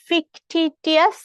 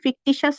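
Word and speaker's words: fictitious: এরপর চলে যাই, কোনটা ফিকটিটিয়াস? ফিকটিশিয়াস, ফিকটিশিয়াস এর হচ্ছে এটা কিন্তু উচ্চারণ ফিকটিশিয়াস হবে।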